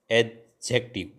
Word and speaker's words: adjective: हैं उसका नाम है एडजेक्टिव यानी इसमें दी साइलेंट है इसको हिंदी में कहते